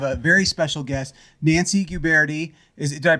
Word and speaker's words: Guberti: one we have a very special guest nancy guberti is did i pronounce it right it did oh wow wow